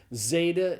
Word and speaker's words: zeta: So zeta is the z sound pronounced like the z in days.